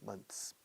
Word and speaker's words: months: Path, Badajoz, month, pero cuando pluralizo, months. Como si fuera TS pura.